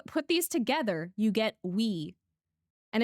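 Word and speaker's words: oui: Okay, I remember west and east because if you put these together, you get we. And if you know French, that's pronounced we and that means yes.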